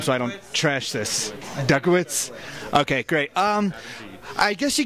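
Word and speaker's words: Dutkiewicz: How do I pronounce his name so I don't trash this? Dukowitz.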